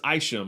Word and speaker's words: Isham: by mark isham and it is aisham i found out the pronunciation i think i i did say i shim in that episode but i wasn't sure if it was isham or aisha that's mark aisham uh